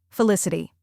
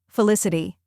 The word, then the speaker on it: felicity: is l i SS which rhymes with kiss and is the stressed syllable then comes I which